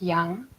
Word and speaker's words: yang: this we call the young side why ang in chinese is pronounced young young think of the